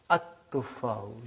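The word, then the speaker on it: التفاح: But now your mind knows that that is a sun letter, so you will pronounce as at-tufahu. You will put a shadda anta.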